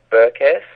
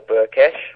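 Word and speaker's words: Berkes: playing against another hungarian called burquez or burket probably is more correct in the hungarian pronunciation and she's white this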